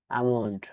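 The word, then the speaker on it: almond: যাই হোক এখন আমরা শিখবো কখন কখন এল লেটার সাইলেন্ট থাকে। এ এল এম ও এন ডি আমড মানে বাদাম এখানে এল লেটার ডিশালিন থাকবে।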